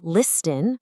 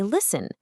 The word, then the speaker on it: listen: of a written word, that T is usually completely silent. Take the word listen. It clearly has a T right there in the middle of the writing, but we don't say listen, we say listen. The exact same goes for castle, whistle, and fasten. That written T is just a ghost.